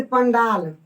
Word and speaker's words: पंडाल: तो इसका जो नाम होगा वो हो जाएगा, इसका उच्चारण अनुस्वार का वो हो जाएगा पंडाल, पंडाल, पंडाल, यानी कि इसका उच्चारण जो है वो अड़ हो जाएगा, ठीक है।